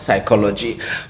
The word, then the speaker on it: psychology: It is pronounced psychology. But then I think it is on my list because it brings to mind a conversation I had with a friend sometime and the friend described another friend as being as useless as the P in psychology.